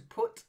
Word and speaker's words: put: cut of course and then put is not like putt is what you do in playing golf and to put something it's an o sound put try it yeah then